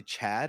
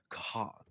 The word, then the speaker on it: Kahad: And when somebody looks at it, it's like, is that just say Chad? And I was like, some might pronounce it that way, but it's Kahad.